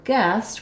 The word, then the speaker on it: guest: GS guess and then same thing for guest we also don't say this anything for this u sound we just have the E vowel like in yes um and so the